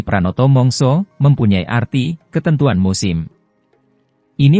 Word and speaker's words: Pranata mangsa: Pranoto mongso mengutip Wikipedia Pranata mangsa atau dalam pelafalan bahasa Jawa menjadi Pranoto mongso mempunyai arti ketentuan musim